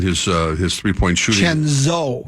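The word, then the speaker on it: DiVincenzo: uh his three-point shooting chenzo chenzo not Cheno but chenz I know I thinken yeah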